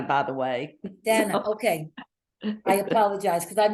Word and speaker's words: Dana: you thank you I appreciate that and I pronounce my name Dana by the way Dana okay I apologize because I've known a couple